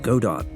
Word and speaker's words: Godot: supposed to be pronounced Godot I've been pronouncing it like the character the engine is named after but that's not how the Creator pronounces it so I'll try to remember to say Godot from now on I've